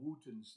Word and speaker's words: Wotton: They're called Wootons now. But it was pronounced Wooton, but it's spelled Watton.